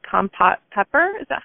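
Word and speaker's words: Kampot: to correct me if I'm saying this wrong, kompot pepper, is that how you say it? The Cambodian pepper. Oh, compote?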